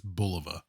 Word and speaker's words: Bulova: And I was just thinking, on my last video on the Bulova or Bulova, I think it's Bulova. Two things. One, some people said I mispronounced it.